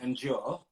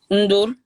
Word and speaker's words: Ndur: And you know your surname, Endure? Is that how you say it? Ndur. Ndur. Ndur. So the N, yeah, it's not even an N, it's just a Ndur.